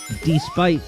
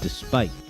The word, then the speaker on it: despite: despite as despite right you put the emphasis on the first syllable instead of the second it's noticeable right so if you say well um I was able to get to the supermarket despite all of the snow